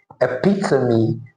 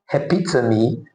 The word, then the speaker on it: epitome: According to the transcription, the word is actually pronounced as epitome and not epiome. Epitomy and not epitom.